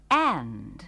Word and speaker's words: and: suatu kata lain yang berguna ialah And. yang artinya dan. Kata ini juga diucapkan dengan cepat sekali, dan huruf D dalam kata itu biasanya tidak diucapkan.